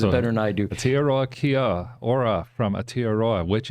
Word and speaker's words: Aotearoa: I learned how to pronounce it from... He says it better than I do. Aotearoa Kia Ora from Aotearoa, which is New Zealand.